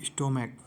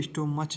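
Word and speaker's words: stomach: जैसे स्टोमैक, इसे स्टोमच नहीं पढ़ेंगे, स्टोमैक, तो इसका लास्ट में सी एच का प्रोनाउंसिएट क्या आ रहा? का, तो यहाँ पर केवल एस ऐड करेंगे।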